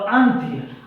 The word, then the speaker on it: अंत्य: आप उच्चारण सही से करेंगे ये आधा नौ है, इसकी जगह आप अनुस्वर भी दे सकते हैं, ठीक है, दोनों बराबर हो जाएगा। अंत और अंत्य, अंत का मतलब होता